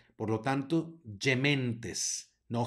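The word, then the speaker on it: gementes: sino Eve luego tenemos una G que sigue que está seguida por una e se va a pronunciar como y por lo tanto yementes no ghementes sino dementes luego tenemos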